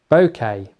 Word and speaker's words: bokeh: I said it before and I'll say it again, bouquet. Bokeh. Bokeh, not bouquet.